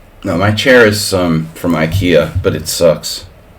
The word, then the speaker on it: IKEA: No, my chair is from IKEA, but it sucks.